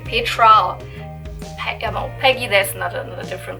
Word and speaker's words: Petra: so when i say petra peggy there's another different pronunciation but in german it's more like you would pronounce it peter and and here's something